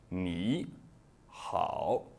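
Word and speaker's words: 你好: Eh bien, dans la plupart des cas, le premier troisième ton se prononce au deuxième ton, tandis que le ton suivant conserve son intonation initiale. Par exemple, ni, hao.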